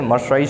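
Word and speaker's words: Marseillaise: ठीक है, MARSELLAIS spelling याद रखना जरूरी है इसकी। ठीक है ना, तो जो एल साइलेंट रहेगा इससे मर्साइज सॉन्ग गाते हैं, जो कि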